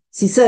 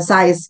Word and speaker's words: SIZE: eh Kementerian kemenko PMK jadi sisa ya ini bacanya bukan size gitu ya nanti apa size-nya XL apa-apa Bukan itu tapi siz kita bacanya yaitu sistem ee informasi sonosis dan EE enemies jadi itu Eh kita bacanya Sis bukan size gitu nah nah terkait